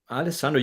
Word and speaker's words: Alessandro: Alessandro, you pronounce it really well.